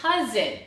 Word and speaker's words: cousin: one up here it's cousin so we have two syllables we have cuz in well I'll be glad